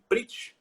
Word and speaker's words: Pritsch: E o seu nome eu falei certo, é César Zucati Pritch?